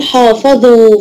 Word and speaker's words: حافظوا: ولا ينطق يا محمد لما بنقول حافظوا في حرف في الكلمه دي مكتوب وغير منطوق ايه هو الالف اه الالف بعد واو الجماعه برافو اقفلي المايك جنى